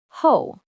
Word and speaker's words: 后: Its pronunciation is ho.